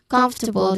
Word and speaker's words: comfortable: This one surprises many learners because even though the word has four syllables, we say comfortable. The stress is on the first syllable.